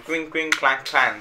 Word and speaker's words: ครึ่งๆ กลางๆ: Gling, gling, clang, clang. Oh my god, that's a weird to pronounce, man. Quing, quing, clang, clang. That's how to pronounce it.